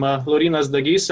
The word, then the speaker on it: Laurynas Dagys: that a lot uh my name is hard to pronounce um lorena's the ghist is originally pronounced but that's all good